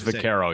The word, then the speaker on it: Vaquero: the tools christian vaquero i hope i say it right christian vacuero vaquero i feel like would be i'm sure it's vaquero yeah vaquero is number